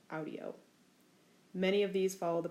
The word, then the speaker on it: audio: principal part, I hear, there's a short I before the O, audio.